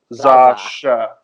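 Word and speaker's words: X Æ A-12: So like the letter X has the the kind of Z sound like in xylophone, and then AE, that AE sign is actually pronounced ash, and then you've got the A at the end. So if you put it together, Zasha.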